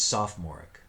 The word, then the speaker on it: sophomoric: People often forget that the O in the middle can go unpronounced. So it's sophomoric.